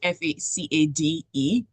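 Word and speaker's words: façade: remember the first time I realized that f a c a d e is not for it's facade it in a book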